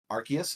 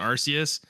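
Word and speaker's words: Arceus: Pokemon Legends um I did want to play archus is that how you say it archus no one knows dude like there it's archus is such a despite online between archus and arus and I I always say archus the official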